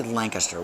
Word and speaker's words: Lancaster: there's Lancaster up here in New England we don't say Lancaster we say Lancaster Lancaster is the proper pronunciation down there the vernacular is Lancaster you know so you